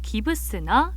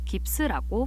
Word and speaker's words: 깁스: 더 있는데요 바로 깁스입니다 간혹 일본 발음으로 기브스나 기브스로 부르는 걸 들으신 적이 있으실 것 같아요 독일어 깁스퍼 반트는 석고라는 뜻으로 우리는 앞에네 글자를 따서 깁스라고 부르고 있죠 유래가 독일어라고 해서 모두